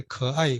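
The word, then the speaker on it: 可爱: 가해 커아이 그래서 근데 커아이인데 일본어도 이걸 똑같이 써가지고 발음은 좀 다르죠.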